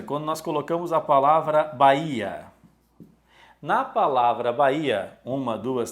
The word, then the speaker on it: Bahia: nós colocamos a palavra Bahia na palavra Bahia uma duas três quatro cinco letras 5 letras como h não tem som as quatro formas Ok